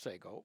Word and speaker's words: Sego: Um, but then we formed a new company, Sego, which, by the way, was originally spelled Sago, but people kept saying Sago. It's pronounced Sego, Mm.